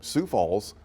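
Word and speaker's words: Sioux Falls: Michigan you have s a l t but pronounced the same Sue Falls Sue St Marine oh I would butchered that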